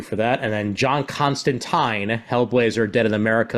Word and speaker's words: Constantine: this type of story, he's Constantine, not Constantine. Like, plain and simple. I'm sure it's right. It just doesn't sound right. I know. It's the way Alan Moore meant for the name to be pronounced.